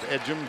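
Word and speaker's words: Ejim: edum at the line it's e gim pronounced edum Drummond has to take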